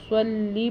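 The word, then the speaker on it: صلِّ: غنہ بھی کریں گے، صلی پڑھیں گے، صاد پڑھیں گے، سلی نہیں پڑھیں گے، علی عین ادا کریں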